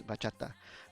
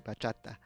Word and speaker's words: bachata: The bachata is a music genre, and in Spanish it says bachata, and so it's not a bachata. To properly pronounce the name and to describe it and to respect it, you say bachata.